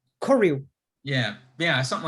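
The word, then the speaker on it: koryu: you describe korea i'm am i pronouncing korea it's okay so in japanese it's k-o r-y-u but r-y-u yes view korea yeah yeah something like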